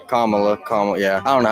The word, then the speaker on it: Kamala: Kamala, yeah. I don't know how to say her name. Well, she says it Kamala.